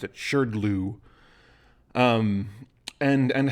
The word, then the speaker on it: SHRDLU: of language called shirdlu yes that's how you pronounce it sure glue um and and how it's built so we're